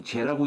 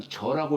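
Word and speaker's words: 諸: 모두제자가 모두를 뜻할 때는 우리는 보통 제라고 읽지만 그러니까 요러한 뜻으로서 썼을 적에는 저라고 읽어요. 저라고 읽어요.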